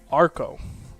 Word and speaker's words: Arco: But it's pronounced Arco. It's Armenian. Armin.